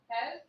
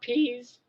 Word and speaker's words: Pez: Pez. Pez. How do you say it? Pez. Are you sure it's pez and not peas?